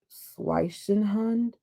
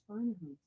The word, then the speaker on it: Schweinehund: an extent that he finally overcame his inner Schweichenhund? Alexa, how do you pronounce Schweinehund? I pronounce that Schweinehunt, but I'm always working on Oh, how to I say was way off.